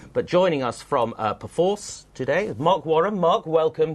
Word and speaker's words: Perforce: is not correct so imagine it as a p sort of apostrophe force not a pyen force